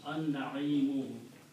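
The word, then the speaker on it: النعيم: So when you combine these two, one dhamma is not pronounced, so it becomes al na'imu, and lam is silent, so it becomes an na'imu.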